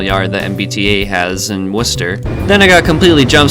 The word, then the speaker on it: Worcester: anyway my day in Worcester yes this is pronounced Worcester Massachusetts what do you on begins on franchis